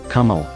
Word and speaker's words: caramel: for a long time the word caramel can acceptably be pronounced in several accepted ways including caramel caramel and in North American English kaml The Disappearance of that second syllable a in the final pronunciation see seems to have been in the works for a long time the word has been